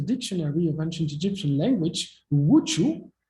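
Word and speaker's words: wḏ: signs in this sequence, wu, ju, wu, means nothing. And then he realized that in the dictionary of ancient Egyptian language, wuchu, this is the way you would read this phonetically, correspond to a word which means commanding or command.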